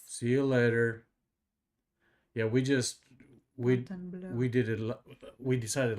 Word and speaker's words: Fontainebleau: It's pronounced blow. Every time I say it in front of my friend, she reminds me it's blow. Fontainebleau.